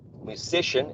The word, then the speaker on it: musician: first syllable and in the case you read musician is uh it's the second one excellent a very good